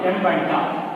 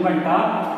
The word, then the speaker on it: Mbanta: from Mbanta. Actually pronunciation Mbanta, but for your sake I am saying Mbanta. Better indeed to remember the spelling.